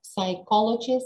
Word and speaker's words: psychology: Да, Существует вариант, что мы что буква П озвучивается. Да, сейчас очень много онлайн такого варианта произнесения слова psychology, но это неприемлемый для экзамена вариант. Пожалуйста, psychology, psychologists.